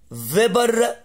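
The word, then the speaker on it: Weber: البرجل ده اسمه على اسم الراجل الالماني اللي اكتشفه، فيبر كومباس تيست. دايما باللغة الالمانية الدبليو تتنطق في، فيبر كومباس.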